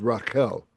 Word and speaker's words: Rachel: Of course, the Hebrew pronunciation of Rachel is Raquel.